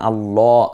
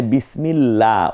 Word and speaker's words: আল্লাহ: এটাকে কখনো পড় করতে হয়, মানে মোটা করে, যেমন আল্লাহ আমি বলছি, আবার বিসমিল্লাহ। এখানে বিসমিল্লাহ, ওই যে আল্লাহ শব্দের লামটাকে পাতলা করে পড়তেছি, এইটা কেন?